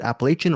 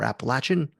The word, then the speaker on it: Appalachian: I've heard it said both ways, but exactly.